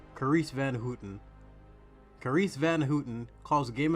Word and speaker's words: Carice van Houten: Carice Van Houten.